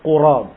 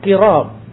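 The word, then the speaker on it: قُراب: Kalimat qurab didommahkan di huruf qaf, jadi dibaca qurab. Wa qila bi kasriha, dan dikatakan pula bahwa dibacanya dengan kasrah qirab. Wa dhamm ashhar, tetapi yang dhammah lebih masyhur, yaitu qurab.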